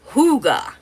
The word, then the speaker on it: hygge: Huga is H Y G pronounced Huga.